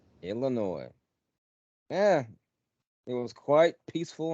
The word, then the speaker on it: Illinois: Well, there's no noise in Illinois, so it's just Illinois. S is silent. Illinois.